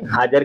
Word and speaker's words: حاجر: عربی میں حاجر ہے، حاجر صحیح لفظ یہ حاجر ہے، لیکن حاجرہ جو کہا جاتا ہے عرف عام میں وہ لفظ حاجر جا کے حاجرہ ہو گیا، تو اسی طرح حاجرہ کہتے ہیں، لیکن صحیح تلفظ اس کا پروننسیشن جو ہے عربی زبان میں حاجر ہے.